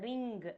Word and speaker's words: ring: Okay, the G can be little silent. Okay. Okay, ma'am. Yeah, can you try pronouncing it in that way? Ring, rang. Ring rang. That G should not come.